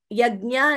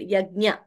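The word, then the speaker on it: yajña: write to us Radha yag yagya is pronounced I mean like I just did yagya uh sanjit G basic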